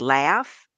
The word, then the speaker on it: LHFF: I also say it's pronounced like laugh, because if you don't have it together, you won't be laughing at the end.